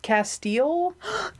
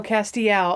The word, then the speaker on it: Castiel: So Castiel? Castiel! Oh, Castiel. Oh, so I was saying it wrong. My bad. Yikes. Castiel.